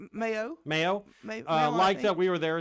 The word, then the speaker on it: Mayo: But I saw that when we checked in there, Jeffrey Mayo, is that how you pronounce his last name? Mayo.